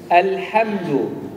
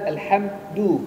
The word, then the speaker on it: الحمد: بسم الله الرحمن الرحيم الحمد الحمد ليس الحمد لا لا تقل الحمد الحمد الحمد الحمد الحمد لله الحمد لله الواء الدال الحمد الحمد الحمد لله الحمد